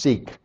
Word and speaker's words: Siq: It's like, I guess it's pronounced Sikh.